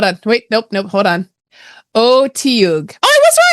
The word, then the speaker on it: Otyug: Oh, apparently there are different ways to pronounce it. So you could also pronounce it Ochu. O2. Yeah, like O-C-H-U.